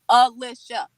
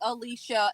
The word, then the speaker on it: Alicia: my name too, Erica, because it's Alicia. Alisha, they always do like Alicia.